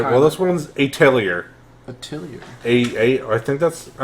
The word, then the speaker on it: atelier: Atelier? I thought it was atelier because there's a T in there, but it's French and no So word. the T's silent.